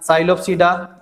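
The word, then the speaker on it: Psilopsida: पहले साइलोप्सीडा, P silent, साइलोप्सीडा, पहला जो तुम्हारा क्लासिफिकेशन किसमें किया गया है, साइलोप्सीडा।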